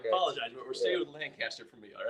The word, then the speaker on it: Lancaster: 37, writing from Lancaster, PA. Pronounced Lancaster, not Lancaster.